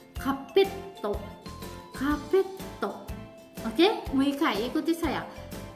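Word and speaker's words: カーペット: Oke, hai, karpet, kapeto, ya, kapeto, double T, ya di sana pelafalannya. Kapetto, kapetto.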